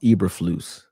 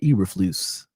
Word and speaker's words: Eberflus: His name pronounced Eberflus.